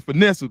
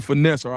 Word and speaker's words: Finneseth: So, hey big last thing before I knew I used to always I call you Finesser, but I just thought I was and I said it on the show.